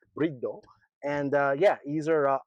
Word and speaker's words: Bride: Um, you know, some people might call it Bride. It's Brid Brido.